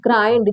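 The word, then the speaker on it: grind: जब आ रहा है एनडी को अगर आई के बाद एनडी आया है तो उस आई को हम कैसे पढ़ेंगे आई करके देखिए बला ब्लाइंड माने होता है अंधा माइंड देखि यहां पर ग्राइंड जी आर आई एनडी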